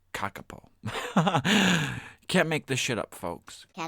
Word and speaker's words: kakapo: f us FS FS kakapo is pronounced kakapo can't make this [